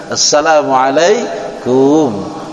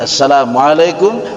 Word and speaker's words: Assalamualaikum: Jadi yang benar Assalamualaikum. Panjang dikit, Assalamualaikum warahmatullah.